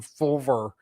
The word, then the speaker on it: FLVR: They're called FLVR cigars, and we just pronounce them Fulver because there's no vowels in the name.